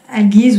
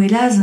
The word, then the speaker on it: Algiz: Algiz ou Elaz, ça dépend comment on le prononce, il y a toujours différentes façons, mais ça symbolise la mère protectrice en fait.